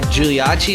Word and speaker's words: Giuliacci: i'm joined today with is it uh giuliachi is that how you pronounce it yeah nailed it yeah latin studying